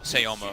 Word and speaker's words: Sema: He was just, well, Sayoma of course, but it's spelled Sema.